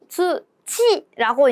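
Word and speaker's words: 通知: 바로 주치라고 읽는 한자였었습니다. 자, 여러분 잘은 모르시겠지만 우리나라 말의 지읒과 일본어의 자행의 발음이 굉장히 달라요.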